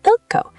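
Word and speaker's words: 읽고: So ilco becomes ilco. The G from combines with the following G to make the tense G sound.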